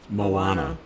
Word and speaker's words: Moana: It's in the dumps and so is Disney's I don't know how to pronounce that Moana or Moana. Moana.